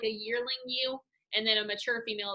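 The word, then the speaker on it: ewe: what all right so it is spelled like this okay it is pronounced you you you lamb you you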